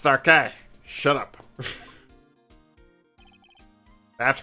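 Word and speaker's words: Darke: This knife, it was Joe Dark's, wasn't it? It's pronounced Darkay.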